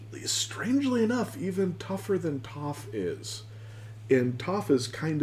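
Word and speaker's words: Toph: I really like to too because it rhymes with tough.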